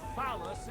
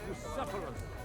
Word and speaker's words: Bucephalus: What kind of name is phallus, anyway? It's pronounced Bucephalus. See now, just mispronounce the name, and we're not talking about a horse.